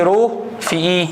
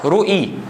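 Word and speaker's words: ρe: يعني اوعى تقول لي رو في اي، لا لا لا لا، احنا بننطقها كده رو اي.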